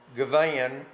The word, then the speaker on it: Givhan: times out of ten, if I say Givhan, which is the way it's pronounced, people will say it's spelled G-I-V-A-N.